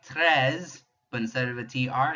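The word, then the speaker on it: treize: Remember, if you can't roll that French R, just make it a breathy H sound. 13. EI in French, we drop our jaw. So drop your jaw and pronounce an A. 13. And that is 13. Notice there's still that ZE to help us remember it's over 10.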